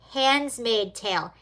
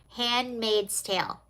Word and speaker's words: Handmaid's Tale: You can't have an anti-Trump protest without a few people dressed up as the handsmaid tale. Handmaid's tale. Handsmaid's tale? How do you say it? Handmaid's tale.